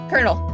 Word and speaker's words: Colonel: Okay, now sit by Colonel is how it's pronounced.